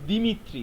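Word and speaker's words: Дмитрий: ঠিক আছে, দিমিত্রি লেখা থাকে, দিমিত্রি লেখা থাকে, এটার স্পেলিং যাই থাক, যেভাবেই লেখা থাক না কেন, এটার উচ্চারণ প্রোনাউন্সিয়েশন হয় দিমিত্রি।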